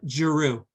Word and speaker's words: Giroud: Okay, and how do you pronounce that? It's Giroux.